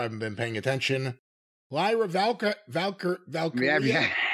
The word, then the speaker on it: Valkyria: Lyra Valkyria. Yeah. No, I was going to say Valkyrie, but it's not Valkyrie.